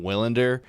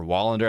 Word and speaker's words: Willander: I like Tom Willander, or Wallander, I think is how you say his last name.